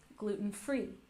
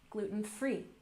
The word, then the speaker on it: gluten-free: Typically the stress is on the last syllable, gluten-free, gluten-free. Good.